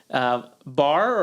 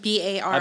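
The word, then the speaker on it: barre: Bar or Bari, not sure I how think it's it's just pronounced. bar, like BAR. I've been saying Bari. It's like ballet. It's a little ballet The instructor influence.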